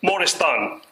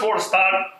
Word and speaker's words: Moristan: establishment of the first Moristan. Moristan is a term for the asylum. The first Moristan was established in Egypt. Some people pronounce it without the A.